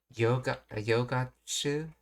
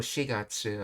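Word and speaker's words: 四月: See, kotoshi no kotoshi, so this year, then no yogatsu, I think she said. Let's see. 探してるんだ。今年の4月。 Oh, shigatsu.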